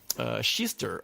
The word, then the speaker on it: Kista: I understand over there today, and you're in Kista. I've learnt to pronounce it properly, about 20 minutes north of Stockholm near the airport, aren't you, from memory?